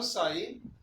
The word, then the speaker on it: psi: is called a psi psi p is silent we call psi and psi denotes the